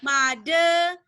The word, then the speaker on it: mother: Jadi ini bacanya yang ini adalah a photograph of the, karena dia British R-nya hilang, mother R-nya hilang lagi, and father R-nya hilang lagi.